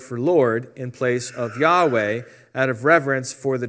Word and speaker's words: Yahweh: to render the tetragramaton the original pronunciation of yhvh or yhwh taken to be Yahweh is a tentative reconstruction based on several lines